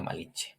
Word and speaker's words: Malinche: a donde fuera, pero los españoles no sabían pronunciar Malint. la TZ, ese Malintzi. término y lo trasladaron a Che y entonces Es por eso Malintsin.